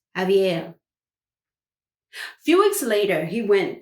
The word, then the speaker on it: Xavier: was new for him his name is X a V i.e our that's pronounce Xavier few weeks later he